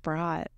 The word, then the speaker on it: Brodt: And that's B-R-O-D-T, B-R-O-D-T, I believe, right? Pronounced Brott.